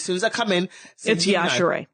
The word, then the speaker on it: Yashere: I have always said Yashere. I know, everybody does. It's okay. That's what I thought, let me tell you, as soon as I come in. It's Yashere. Yashere. Yeah. Pronounce the E, people.